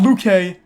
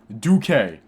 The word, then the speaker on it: Duque: Duque. Not Luque. Duque.